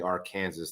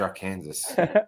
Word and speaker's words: Arkansas: spell it right and there's no w at the end of Arkansas it is Arkansas also illegal in Arkansas